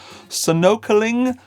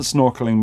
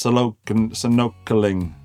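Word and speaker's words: sonokeling: You're getting a solid selected Canadian Sitka spruce top, sonocling mahogany back and sides, which I first read as snorkeling, but it isn't snorkeling mahogany, it's sonocling.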